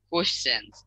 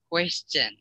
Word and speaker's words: question: question yep question it's question quest question yeah question so the q u is so it's almost like a q w it sounds like q w q u is